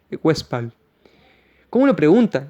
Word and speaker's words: Westphal: Se escribe Edinger-West, como oeste en inglés, P-H-A-L, Westphal.